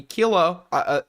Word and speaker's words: Kuihman: And the segments that I watched from the Kilo, not Kylo, I've been mispronouncing his name for a year.